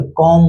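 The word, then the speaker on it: comb: सी ओ एम बी को कॉम्ब बोलेंगे। नहीं बोलेंगे। क्या बोलेंगे? कॉम्ब बोलेंगे।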